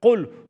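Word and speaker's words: قل: You don't want to say, instead of qul hu Allah, you don't want to say kul with a kaf.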